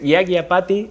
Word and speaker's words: Yajñapati: A ver, contanos cómo se pronuncia. El nombre, bien. Sí. El nombre es Yagyapati.